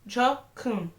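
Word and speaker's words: 조커: Puisque en coréen, Joker s'écrit comme ça. J'espère sincèrement que je vais y arriver à le mettre. Et on prononce Jokun. Cette phrase ressemble beaucoup à un gros mot en coréen, surtout lorsque l'accent est mis sur le mot Jo.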